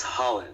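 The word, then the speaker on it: Rhalan: you about was the Halen Holland Gracie seminar yesterday do you say his name or Holland it's Holland Holland that's that's what I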